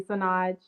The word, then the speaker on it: Señoj: Yes, you pronounced it correctly, Sonage.